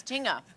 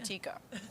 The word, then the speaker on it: tinga: So I've been saying it wrong. It's tinga. Tinga. I'm saying tikka.